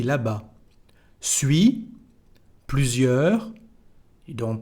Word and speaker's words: là-bas: Là-bas, over there, we don't pronounce the S.